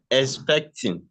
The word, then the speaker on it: expecting: So, how do we pronounce the word correctly? Uh, ex expecting.